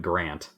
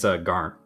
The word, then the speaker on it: Garnt: Well, no, calling him Grant. Garant. Because his actual name's Garnt.